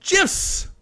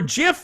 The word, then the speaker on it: GIF: Now, as I've said before, GIF is pronounced GIF, not GIF. I know a lot of people think that they're being really smart by trying to say GIF. But GIF is GIF.